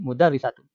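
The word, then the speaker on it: مدرسة: Kenapa di sini dibacanya la tilka madrasatun, sedangkan di sini mudarrisatun? Karena lihat konteks kalimat, ya. Ini tentang masjid, ya. Masa masjid sebanding dengan guru perempuan?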